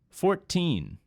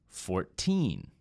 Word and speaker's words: fourteen: and 40 is 40 with the teen numbers the stress is on the second syllable and it stretches out a bit 19 17 14 let's listen to them